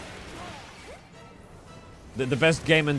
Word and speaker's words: Apogea: Apogee. Uh, it's actually Well, close. So, replace the second E with an A. Apo. Okay. So, close. Very close. Very close. Apogeia.